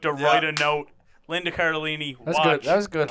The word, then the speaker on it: Cardellini: Cardellini.